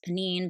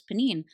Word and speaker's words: Pnin: I listened to an entire podcast where at the beginning, this woman was like, "I know it's supposed to be pronounced Pnin, but in my mind, I always said Pnin, so I'm just going to keep saying Pnin through the whole thing."